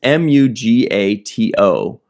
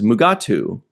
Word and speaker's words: Mugato: I also noticed that in the subtitles it was m u g a t o mugato, but the way they kept pronouncing it was mugatu.